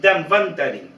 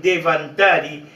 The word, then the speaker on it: Dhanvantari: En segundo lugar, que este ritual a Dhanvantarin, ¿quién es Dhanvantarin? Dhanvantarin, Devantari, Devantarin, distintas pronunciaciones, según la región de la India, donde nos referimos al